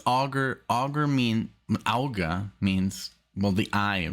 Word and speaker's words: Auger: And I even looked up the pronunciation because it's Auger.